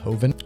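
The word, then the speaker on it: Jovan: or something that and I think Hoven spelled j o v an but again I think it's pronounced hovind okay last but not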